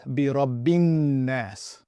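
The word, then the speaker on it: بِرَبِّ النَّاسِ: that right now, that this letter here, essentially, for the most part, just so you know, is not really being pronounced. Neither is this letter, and neither is this letter. So what we end up reading is Birabbin-Nas.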